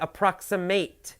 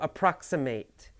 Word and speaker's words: approximate: of not exact but if you use it as a verb you say approximate to approximate right that you you hear that a the it becomes a long a sound to approximate so approximate the stress is different adjectives approximate verb approximate